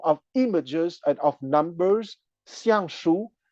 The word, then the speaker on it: Xiang Shu: images and of numbers, Xiang Shu, X-I-A-N-G, pronounced at the fourth tone, and Shu, S-H-U, pronounced at the first tone.